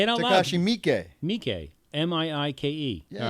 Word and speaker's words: Miike: Oh yes, it is Takashi Miike, Miike. John. What? Okay.